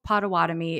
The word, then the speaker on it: Potawatomi: but after some review potawatomi is the correct even though anglicized way to pronounce that name of that tribe boduewadmi is how we